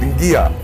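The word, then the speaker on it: qia: we got tattooed, and she called it Ngia. In Fijian it's spelled Q-I-A.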